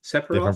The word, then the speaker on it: Sephiroth: I believe, Different Sephiroth. pronunciation than I'm used to, but sure. Okay. Yeah, so it's they put together Sep, her, like as in like him, and then Roth as in to work.